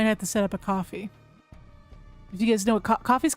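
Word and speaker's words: Ko-fi: But if we don't get it, I might have to set up a coffee.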